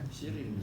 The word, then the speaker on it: Sirin: Ketika menginjak remaja, Maria dan kakak perempuan yang bernama Siren. Enggak tahu bacanya Sirin apa Siren ya? Sirin. So bahasa Arab itu sin ya ro ya nun. Enggak ada harokatnya kan? Sirin, Siren, Seren, Seren.